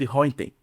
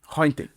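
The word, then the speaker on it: Röntgen: William Conrad Hinten. Hinten. Mas que pronúncia bonita, cara.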